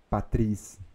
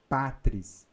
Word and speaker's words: patris: Se você viu patris, será que eu falo patris ou patris? Não existe patris. Não existe oxítona. Então, patris. Duas sílabas.